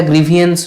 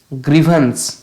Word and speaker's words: grievance: আর এটা গ্রিভিয়েন্স নয়, গ্রিভান্স, গ্রিভান্স, vague.